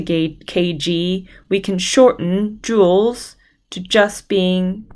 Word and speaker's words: joules: we call it tools it's felt quite interestingly it's spelled that way we call it joules and we can shorten joules instead of needing